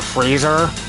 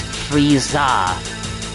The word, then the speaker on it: Frieza: who you are Mr freezer my name isn't freezer it's friezer you dumb oh I'm so sorry that I mispronounced your name Frieza I'll do better next